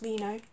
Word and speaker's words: Reno: I was about to call him Reno, but it's actually apparently pronounced Reno.